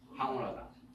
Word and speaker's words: 황홀하다: 발음이 방이요? 황이요? 황홀하다.